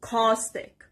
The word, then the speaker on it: caustic: The next word is caustic. Caustic. And the stress is on the first part.